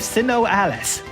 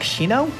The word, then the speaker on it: SINoALICE: We interrupt Final Fantasy IV to bring in another collaboration, this time with Sinnoh Alice. Though apparently in Japan it's pronounced like Shino?